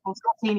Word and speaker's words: Osteen: Osteen, yeah.